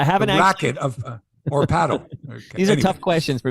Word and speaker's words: padel: except I guess the Spanish influence we say Patel but it's called paddle it's like paddle ball p-a-d-e-l like it rhymes with Nadel it's right have you got